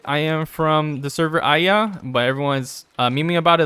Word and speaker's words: Aeaea: I am from the server Aya, but everyone's memeing about it like I, because it's spelled AEAEA.